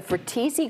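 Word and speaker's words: Fratesi: The Fratese Grocery and Service Station, I pronounce that right?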